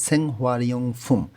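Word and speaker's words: 생활용품: যদি আমরা উচ্চারণ করি রিউল বাচ্চিমটা উপরে চলে যাবে উচ্চারণটা হবে সেংহারিয়ং ফুম অর্থ হচ্ছে জীবনযাপনে ব্যবহৃত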